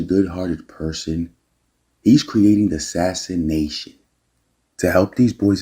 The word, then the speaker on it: Sassin: So that's pronounced Sassin. Oh, Sassin. Okay.